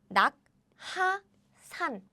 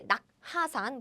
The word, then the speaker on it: 낙하산: So, you now know that these can be combined and changed to k. So we don't say 낙하산, but we say 낙하산.